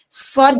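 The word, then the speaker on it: ص: surah Shad ya teman-teman cara bacanya Shad dipanjangkan Shad ya kita ulang SH ya panjang SH baru ketemu huruf Dal Kenapa bisa karena ketika diurai karena dia hukum mad lazim maka ketika diurai ada huruf Shad fathah Alif Mad huruf Dal Sakinah ah wajib enam harakat karena lazimun kita pindah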